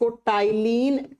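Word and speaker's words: ptyalin: देखिए, मैंने इसका उच्चारण T से शुरू किया, लेकिन इसे P से लिखा जाता है ; उच्चारण के दौरान 'P' अक्षर मौन रहता है , इसलिए इसे पट्यालिन एमाइलेज एंजाइम कहा जाता है।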